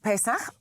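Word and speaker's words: Pesach: I think it's pronounced pes pes or you can say Passover in English. Pes in Hebrew.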